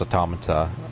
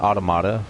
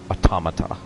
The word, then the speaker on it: Automata: It's pronounced Automata. I was calling it Automata for a while, but I learned later that it's actually pronounced NieR Automata.